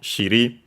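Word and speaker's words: 尻: Literally, it would be from, it's a contraction, it's a compound noun from shiri. Shiri on its own, accent on the last syllable.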